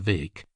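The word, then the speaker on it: Bheag: Further, it was rumored that there was a chance of them getting for goal Farquhar McRae, Little Farquhar, or Farquhar Vake, Bheg, pronounced Vake, as he was euphoniously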